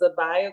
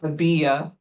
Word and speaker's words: Abijah: awesome lady with me today her name is AA Grant did I say it right did I remember it right it's okay it's pronounced AIA AB so miss ABIA is a passionate advocate